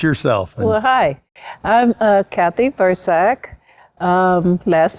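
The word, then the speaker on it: Vrzak: Well, hi, I'm Kathy Versack. Last name is spelled V-R-Z-A-K.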